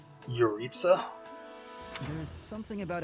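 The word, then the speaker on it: Jeritza: do have suspicions about your Itza that's how you say his name your Itza there's something about how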